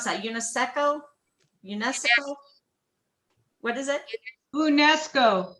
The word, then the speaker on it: UNESCO: time when you visit old san juan a unisex how do you pronounce that unesco unesco what is it unesco unesco thank you